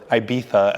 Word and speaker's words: Ibiza: supercars from Rome to Ibiza, or Ibiza as they would pronounce it here in Spain.